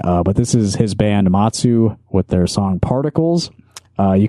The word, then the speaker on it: Mazu: I think it's supposed to be pronounced Matsu, M-A-Z-U.